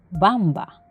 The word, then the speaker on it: Wamba: caso son las palabras de origen visigodo o alemán el sonido será como una ve por ejemplo bamba o volframio x existen tres